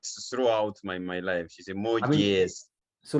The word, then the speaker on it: Moges: So your nickname is like Moges or Moges. How do you pronounce it? It's just it is Moges, but there's always a